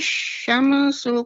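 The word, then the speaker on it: الشَّمْسُ: Mimnya ya, Nek. Mimnya ketika disukunkan tidak memantul. Idza syamsu kuwirat. Tidak syamsu. Tapi jelas syamsu kuwirat. Silakan. Jadi mimnya itu nggak dikuatkan Ustaz bahasanya. Ya, mimnya dijelaskan, tidak dipantulkan, Nek.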